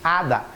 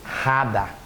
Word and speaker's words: hada: você não pode dizer rada não existe hadada o H em espanhol que é o at não tem som portanto você fala ada E por que no